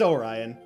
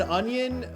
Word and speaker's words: Orion: It's Orion. You would be shocked about how many people are still mispronouncing my name. And then I'm just here with my fat Yeah. No, people have said onion. People say Oran a lot.